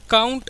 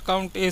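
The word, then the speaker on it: COUNTA: काउंट ए क्या करता है, काउंट ए या फिर काउंटा भी बोलते हैं इसको, बट काउंट ए सही प्रोनाउंसिएशन तो काउंट ए ही है, ठीक है। काउंट ए बोला जाता है।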